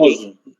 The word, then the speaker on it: posso: Posso com som de S, certo? E por que som de S? Porque essa letra S ela está duplicada. Sempre que vocês virem duas letras S, uma ao lado da outra, isso significa que a pronúncia será S, posso, ok?